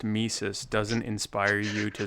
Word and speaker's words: Mises: So then the fact that it's pronounced Mises doesn't inspire you to say that you love Mises to pieces?